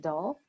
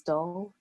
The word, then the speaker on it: Doll: Kemi Dahl. Her name is spelled K-E-M-I at the University of Washington. K-E-M-I, the last name is Doll, D-O-L-L, who looked at this, who did a